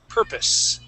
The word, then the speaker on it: purpose: Last word is the word purpose. So at the end here, we want to use an is sound.